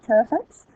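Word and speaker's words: pteridophytes: is the ter uh terapets that pee is silent just like in terod uh the terites are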